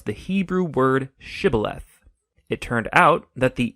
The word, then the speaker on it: shibboleth: and asked everybody who wanted to cross to pronounce the Hebrew word shibboleth it turned out that the ephraimites had grown up pronouncing that word differently so instead of saying shibboleth they would say sibileth when that happened the gilianite guard would execute